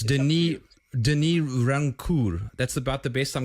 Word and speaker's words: Rancourt: Is it a silent T? I forget. It doesn't really matter. Anglophones say Rancourt, but the proper pronunciation is Rancourt.